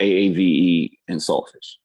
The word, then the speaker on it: AAVE and Saltfish: And so, and then the next track, which is, I'll say it for the listeners so they can all pronounce, is AAVE and Saltfish. So it's built off the term Aki and Saltfish, but AAV is African American vernacular language.